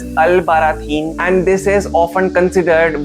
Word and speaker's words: Albarracín: It is a difficult pronunciation. It is pronounced as Albarracín, and this is often considered one of Spain's most beautiful medieval villages.